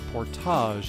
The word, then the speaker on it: portage: would encounter my first portage of the week, or portage as our friends a few miles north of here in Canada pronounce it.